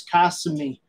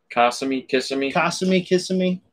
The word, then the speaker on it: Kissimmee: He's saying it's Kissimmee. Kissimmee. It's all the same.